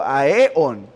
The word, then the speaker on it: aeón: El término técnico es aeones, A-E-O, acento en, aeón, un aeón o aeones. Si lo decimos en singular, lleva acento en la O, aeón.